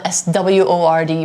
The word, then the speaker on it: sword: which is a sword sword is spelled s-word but you don't really say the W you just say sword and it's a weapon